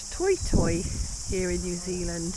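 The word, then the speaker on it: toetoe: And they are called toy toy here in New Zealand. It's spelled to o e to o e. So we would say toto, but they're pronounced toy toy.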